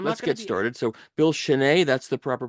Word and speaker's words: Schnee: fun believe I'm not's get started so Bill Chen that's the proper pronunciation of your name correct sh yeah okay